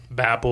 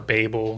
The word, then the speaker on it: Babel: And you guys will be familiar with her other books, The Poppy War, Babel or Babel, depending on how you want to pronounce that.